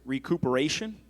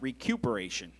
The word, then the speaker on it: recuperation: Oh, and your word is recuperation. It could also be pronounced recuperation.